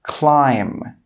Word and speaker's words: climb: The first rule is that if a B comes after an M at the end of a word, it's normally not pronounced. Some common examples are climb, crumb, tomb, bomb, comb. You can see here that in all of these words, we do not pronounce that final B sound.